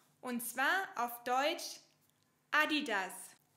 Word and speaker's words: Adidas: Aber oft wird sie fälschlicherweise Adidas ausgesprochen. Aber die Betonung liegt woanders. Und zwar auf Deutsch Adidas. Adidas.